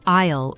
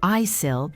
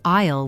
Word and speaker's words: aisle: That's a i l e pronounced like isle or isle. The a isle seat is the seat next to the walkway on the plane. Many people try to say isil, but it's actually isle with a silent s.